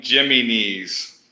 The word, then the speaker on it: Jimenez: it's pronounced Adam Jimenez. Jimenez. Yeah, that's how we pronounce it, Jimenez. Okay. So it's Jimenez, but we call him Jimenez. okay, Jimenez. Yeah, we turned him into a Greek guy.